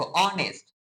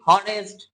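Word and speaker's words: honest: তারপরে দেখ অনেস্ট। অনেস্ট অনেস্ট আমরা কি বলি হনেস্ট হনেস্ট বয় অনেস্ট বয় আমরা কিন্তু অনেস্ট বয়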